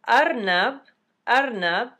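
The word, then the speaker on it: أرنب: So Arnab, which starts with an alif, and the alif sounds like ah, so arnab, that's a short A vowel.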